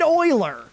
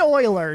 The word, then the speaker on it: Euler: uh euclid and euler whose names are spelled similarly but pronounced very differently and don't [ __